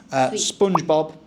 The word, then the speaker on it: SpongeBob: Bob with a B. We say Bobber. SpongeBob. SpongeBob. No P.